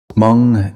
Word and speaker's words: Mong: Mong Leng speakers generally pronounce it without the initial H sound, producing Mong.